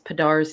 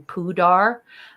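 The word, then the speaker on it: Pa'Dar: I think it's hilarious that Garrick mispronounces Padar's name and calls him Pudar.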